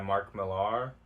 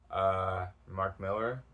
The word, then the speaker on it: Mark Millar: It's a 3-issue series by Mark Millar. Mark Miller. I've heard it pronounced both ways.